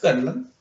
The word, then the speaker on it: Garland: oye, entonces Oscar Isaac, actor fetiche de Alex Gayhart, Sí, a podríamos decir. cagar. De Alex Garland, a cagar. Tú lo pronuncias mejor que yo, está Gayhart. No, no, Sí, Garland.